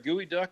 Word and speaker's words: geoduck: but that's either a gooey duck or my penis. Over here it says geoduck. It's spelled geo.